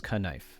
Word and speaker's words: knife: and uh knife as kanife but sometime in the 1500s we started dropping that k sound probably because folks simply